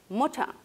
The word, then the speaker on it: Mutter: Mocha, U breve, madre.